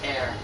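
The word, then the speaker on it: Herr: me shows so oh in german it pronounced air i believe h-e-r-r is pronounced air you can read all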